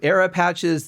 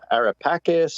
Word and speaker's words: AraPacis: to pronounce it uh arapakis or arapassas meaning you're just like aeropatches it just you know grabs you it's got a flow to it well it's the italian pronunciation so if you go